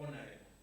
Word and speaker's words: honorable: You'll be wrong if you mention or you pronounce H. You'll be right if you start reading from O. Honorable. Not Ho.